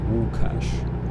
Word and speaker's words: Łukasz: to me, which is the name Lukas would be pronounced Łukasz, and the Wu.